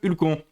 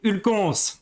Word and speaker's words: Hulcons: nous vous écoutons, monsieur Hulcon. Merci, et c'est Hulcons, hein, avec le S qui se prononce, s'il vous plaît.